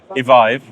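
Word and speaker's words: Evyve: Um, evive. Evive is how I pronounce it. Revive. Yeah, like revive or drive.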